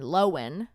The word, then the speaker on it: Lohan: her name Lindsay Lohan apparently it's Lindsay Lohan like w-e-n lowen Lindsay Lohan Lindsay Lohan says